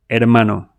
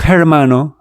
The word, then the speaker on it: hermano: H silent always. No sound. Say this with me. Hola. Amano. Not hermano, but easy, right?